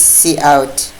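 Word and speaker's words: cout: Colony then see out this is pronounced at C out whatever you can pronounce it but in C++ we call this C out next thing you have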